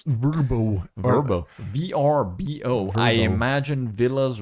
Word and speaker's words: VRBO: if anything is going to take this business down, its name, which is it's impossible to say or pronounce. It's Verbo.